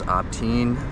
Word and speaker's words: Abtein: So, uh my name is Opteen. Um it's uh phonetically it's like the word obscene but with a T.